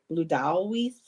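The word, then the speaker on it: Blodeuwedd: was like, oh, it's Blutoweeth. Now I've heard it pronounced Blutoweeth, Bludowweeth, depending on the correct pronunciation, but I've been known to pronounce it as Blutoweeth, and she is the goddess of the flowers, of nature.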